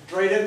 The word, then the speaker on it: Drayden: Drayden. Drayden, thank you.